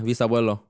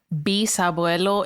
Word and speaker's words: bisabuelo: Is it bisabuelo, like VIS, or how do you say it? So bisabuelo is BIS.